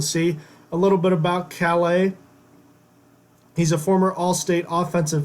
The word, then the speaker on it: Calais: and Raymond Cal a I want to say coleus cuz it's spelled c8 a is but it's Calais he's a senior and